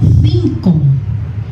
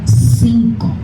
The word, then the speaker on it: cinco: E or I are pronounced like English TH in think. For example, gracias. In Spain it is gracias. Gracias. In most of Latin America is gracias. Another example, cinco. In Spain it is cinco.